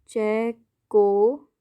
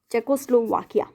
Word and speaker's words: Czechoslovakia: कैसे बोलोगे? देखो हिंदी में बताती हूँ, चेकोस्लोवाकिया। ये स्पेलिंग मत लिख के आना, स्पेलिंग तो ये लिखनी है, लेकिन बोलोगे तो कैसे बोलोगे? ऐसे, चेकोस्लोवाकिया।